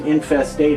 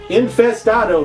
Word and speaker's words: Infestado: oh not not pronounced infested Oh to rhyme with tornado or tomato although if you say tomahto nobody really says tomahto do they I don't think they do infest Otto hear that word is